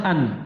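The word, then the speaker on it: أَنْ: Yang pertama dari 4 penasab ini adalah an. Jadi an itu khobar ya. Fi mahali raf'in. An cara bacanya bagaimana? Bi fathil hamzati wa sukunin nun. Dengan cara di fathah hamzanya dan disukun nunnya. Ini cara bacanya.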